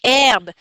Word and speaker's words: herbe: e j'ai pas trouvé herbe mais après j'ai pensé la lettre H pour t silencieuse alors je suis allé chercher dans la lettre H dans le dictionnaire effectivement j'ai trouvé que le mot herbe s'écrit h e r